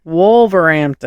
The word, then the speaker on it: Wolverhampton: Wolverhampton. The H is silent.